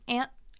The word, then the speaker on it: aunt: But for the purposes of this lesson, let's say aunt. Aunt and aunt are pronounced the same. Rhymes with can't.